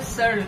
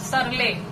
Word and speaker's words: Searle: Bubber Searle. It's not Surley. Don't pronounce it as Surley.